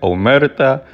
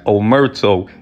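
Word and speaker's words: Omertà: So also during the sit down, another funny thing is Sammy the Bull keeps mispronouncing Omerta as Omerto.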